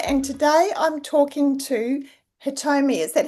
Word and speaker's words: Hitomi: Yes, it's Yes. properly in Japanese is Hitomi, but Hitomi. people very find hard to pronounce, so Hitomi is fine.